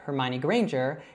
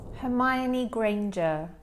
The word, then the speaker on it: Hermione Granger: So I would say Hermione Granger and Andrea would say Hermione Granger. Hermione Granger. All right, so the really big difference there is with the R sound. So I say it as a strong R, and she actually says it as more of that soft British R.